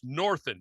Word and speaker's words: Northen: Joshua Levering and William northen I didn't misspell that it's northin and I actually had a spell check on this but it's it's proper northin is his name these two gentlemen came